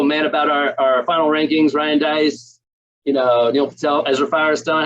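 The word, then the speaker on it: Deiss: nice and speaking of nice rhymes with nice ryan dice gold medal ah that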